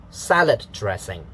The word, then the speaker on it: salad dressing: 1, 2, 3, 4 syllables. The first one is stressed, so, and then just ignore the lower stress mark. So for the pitch, so it's da. Salad dressing.